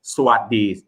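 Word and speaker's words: สวัสดี: So swasti, it's swaddi. Yeah, swaddi.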